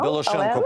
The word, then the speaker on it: Білошенко: Правильно наголос зробив прізвище? Білошенко. Білошенко, але...